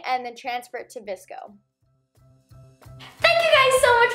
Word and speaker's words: VSCO: I'd pronounce it like Visco, and basically you can